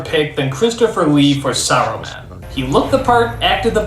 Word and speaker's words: Saruman: film though is for some reason they stopped pronouncing the S and simply call them arrow man why is the suddenly a bad word you idiot it's pronounced Saruman the answer isn't silent also how come Gandalf